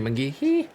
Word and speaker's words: McGehee: I know it's just McGee, but it should be McGehee. And it should say it like that every time.